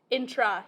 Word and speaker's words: intra: Intra. Yep. So inter, E-R at the top, R-A at the bottom, intra.